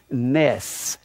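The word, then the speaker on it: נֵס: it has the same meaning it's the word Ness any see any see it's pronounced Ness there'll be an instant it means a flag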